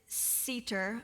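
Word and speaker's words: סֵתֶר: The shelter, which the Hebrew word for shelter is cater. I don't know if that's how you say it. It's s e t- r. All my Wednesday night class people know I struggle with the Hebrew stuff, but it's cedar.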